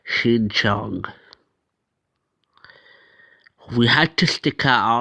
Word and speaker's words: Xinjiang: I looked that word up and that's how you pronounce it, Xinjiang.